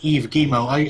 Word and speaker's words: Yves Guillemot: That's how you pronounce his name, by the way, Yves Guillemot.